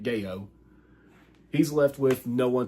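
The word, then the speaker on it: Gao: It's spelled G-A-O, so that's how I'm pronouncing it, Gayo.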